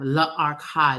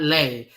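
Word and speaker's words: L'Archive: It's L apostrophe E. Archive, La Archive, not Lay. She spelled it Lay Archive. It's La Archive.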